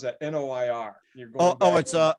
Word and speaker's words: noir: Noir. You're going it's like noir, like film noir.